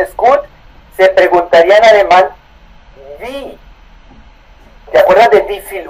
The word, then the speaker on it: Wie: ¿Wie ist Kolumbien? Okay. Trata de pronunciar la W, no vi, sino ¿Wie ist Kolumbien?